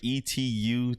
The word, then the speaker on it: Etute: He said toot. Yeah, it's like toot, like Etute.